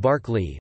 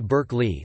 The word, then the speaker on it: Berkeley: The philosopher's name is pronounced Berkeley, but the city's name, to accommodate American English, is pronounced Berkeley.